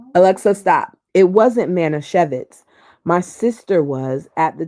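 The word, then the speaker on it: Manischewitz: I pronounce that. Alexa, stop. It wasn't Manisevitz.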